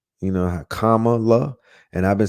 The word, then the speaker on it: Kamala: and they were like her name is Kamala like Kama you know Kamala and I've been saying